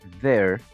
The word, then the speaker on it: there: palabra entonces la palabra there cierto pronunciamos la th con una d pero con más aire saliendo entre nuestros dientes y la lengua ver sale un poquito